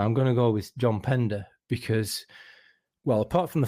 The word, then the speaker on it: Pender: going to go with John Pender because well apart from the fact that his name rhymes with Defender which is reason enough